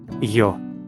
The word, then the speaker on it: ё: The letter Йо. is distinct from the letter Є. in its pronunciation. From a pronunciation standpoint, the letter Йо. represents a combination of the sounds Є. О. Є. О. Йо.